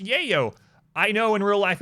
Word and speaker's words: Yayo: all of it all of it Adam it's pronounced Yayo I know in real life it is okay but in the royalty song alignment they say yeah yo so I specifically pronounce it that way I'm